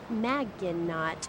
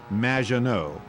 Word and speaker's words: Maginot: have mispronounced my name it's which rhymes with badge uh as in duh and no as in more than you maginot anyway thank you for